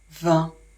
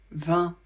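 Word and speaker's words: vingt: termine par un uf 20 I et n ça fait le son 1 le G on ne le prononce jamais le T vous pouvez choisir de le prononcer tout le temps sinon de le prononcer seulement pour faire la liaison donc quand le mot suivant commence par une voyelle et vous devez le prononcer quand le chiffre 20 est accompagné d'un autre chiffre comme par exemple 22 maintenant je vous propose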